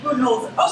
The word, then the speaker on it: Budenholzer: Budenholzer.